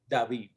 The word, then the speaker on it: David: And you pronounce it in Spanish, David? David.